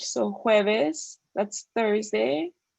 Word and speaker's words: jueves: J, like it sounds like an H, so jueves, that's Thursday.